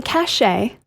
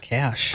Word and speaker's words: cache: blank on your computer it's not the cachet cachet sounds like a name uh no it's the cash cash I know extra letters but it's just the cash okay this one you